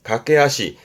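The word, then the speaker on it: 駆け足: 그래서 이렇게 쓰면 발음은 갓게하시 각게하시 달리는 발 달리는 발이라함은 간단히 말하면 박질이에요.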